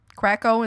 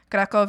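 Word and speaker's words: Kraków: Kraco is how you say it in English. Kov is how I would say in Spanish with my dad.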